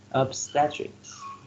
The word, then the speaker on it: obstetrics: one number five obstetrics obstetrics three syllables and the first symbol receives the stress obstetrics you match with g5g